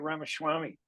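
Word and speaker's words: Ramaswamy: as I'm concerned would be I know I mispronounce his name I did it that's okay no no you had it right ramaswami I had right for a change yeah you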